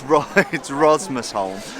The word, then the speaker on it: Rosmersholm: You do get used to how it's pronounced, but it's Rosmersholm.